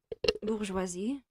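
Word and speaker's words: Bourjois: Bourgeoisie. Makeup brand Bourgeois has an S at the end that is silent. You don't pronounce it.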